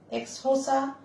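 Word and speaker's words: Xhosa: তো সেই ক্ল্যানে আমি এখানে একটু লিখছি, দেখো বোর্ডে, দেখো দেখা যাচ্ছে কিনা জানি না, এটার উচ্চারণ এক্সহোসা হয়, হ্যাঁ।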